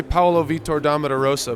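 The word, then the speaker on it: Paulo Vitor Damo da Rosa: I say Paolo Vitor Damo da Rosa, but you kind of gave it the Latin flavor.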